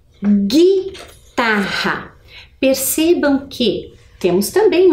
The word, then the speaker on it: guitarra: Percebam que o som, eu não escutei o som da vogal U.